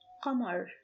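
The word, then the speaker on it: قمر: This is the word qamar. Qamar means moon in English. Qamar has 3 sounds, which are q, m, and silenced r.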